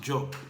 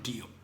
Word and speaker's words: Diop: Diop because of my pronunciation, but I managed to get, I had some Mandinka guy and it's actually pronounced Job, not Diop.